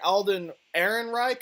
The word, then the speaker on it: Alden Ehrenreich: I actually thought the actor Alden Ehrenreich, I think is how you pronounced it, was a pretty good Han Solo.